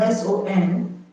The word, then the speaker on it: son: Son, S-O-N, is the O in son. If S-O-N and S-U-N are pronounced the same way, they are homophones, they are pronounced the same way.